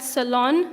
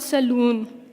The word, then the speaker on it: salon: beauty treatments right so that salon not saloon now how can you